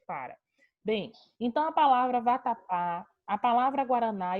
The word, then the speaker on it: vatapá: Então, ó, vatapá. A gente tem 3 sílabas. Por isso eu pude fazer a classificação, sabendo que o pá é a última sílaba da palavra, dizendo que ela é oxítona.